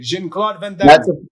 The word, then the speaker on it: Jean-Claude Van Damme: That's his French or Brussels. That's how you say it. Jean-Claude Van Damme.